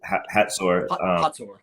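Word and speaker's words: Hazor: heard and read obviously in the Bible about Hzor or Hatsur.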